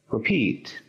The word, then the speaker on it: repeat: Repeat. Muy bien. Encontramos el acento en la segunda sílaba.